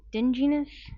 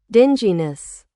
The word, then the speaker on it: dinginess: It's my god dingess. Sorry, I copied The AI thing equals being dark. I don't care. I want I want to see how you say it. Dinginess.